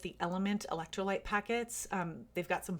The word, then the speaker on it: LMNT: I also really like the Element electrolyte packets. They've got some fun summer flavors right now. I am not an affiliate, by the way, of either Polar or Element.